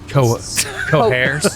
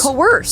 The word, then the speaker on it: coerce: No, Yeah, it's coerce. coerce. Coerce. Both are accepted. That can't be true. To you. It's not the H. You don't add an H.